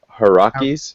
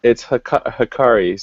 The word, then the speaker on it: Hikari: were you call them Hirakis. Hiraki, yeah. How do you pronounce it? It's Hikaris because Hikari. I think you got two of the letters mixed around.